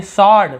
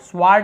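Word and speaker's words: sword: फिर देखिए सॉर्ड, स्वार्ड नहीं पढ़ते हम, क्या पढ़ते हैं, सॉर्ड, सॉर्ड यानी होता है तलवार।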